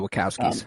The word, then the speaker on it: Wachowski: be known that knowledge thinking of what the Wachowski is that how you say it yeah the wachowskis what they came up with uh that's insane